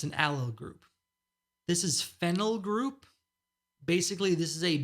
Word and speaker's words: phenyl: That's a very different molecule than phenyl.